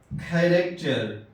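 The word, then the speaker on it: character: اسی طرح کھیریکچر، کھیریکچر، یہاں دیکھیے سی ایچ ایک ساتھ آیا لیکن تلفظ کاف ہو رہا ہے.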